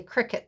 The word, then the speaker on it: Cricut: And yes, you say Cricut, Tanya. That's how you pronounce it.